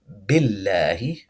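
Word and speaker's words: بِاللَّهِ: Notice this ba kasra and lam shadda is going to connect. We're going to say amanna billahi. This word is billahi, billahi, because this ba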